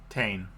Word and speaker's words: Taine: How do you want to pronounce that, B? Tane. You were correct.